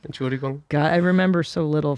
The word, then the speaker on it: Entschuldigung: Entschuldigung.